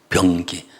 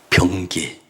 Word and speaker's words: 병기: 그 이스라엘 백성들을 하 하나님의 기가 되게 하셨습니다 발음을 전 변기 변기가 아니고 병 병기 특별한 무기 그 무기가 되게 하신 것입니다 1절과